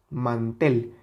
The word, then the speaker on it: mantel: Man y la tel mantel evidentemente la sílaba tónica es la última mantel si le quitamos